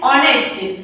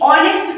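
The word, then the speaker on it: honest: नेक्स्ट है एन ऑनेस्ट, यानी कि ऑनेस्ट का भी हम लोग वॉवेल ओ का उच्चारण कर रहे हैं, एच का उच्चारण नहीं किया जा रहा है, इसीलिए यहाँ भी एन का यूज किया गया है।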